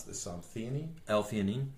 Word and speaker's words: L-theanine: gaba there is some evidence how do you pronounce this some Theni l-theanine l-theanine okay so l-theanine or glutamine are both there's